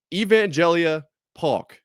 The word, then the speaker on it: Evangelia Paulk: So, Evangelia Paw is how is said it is pronounced.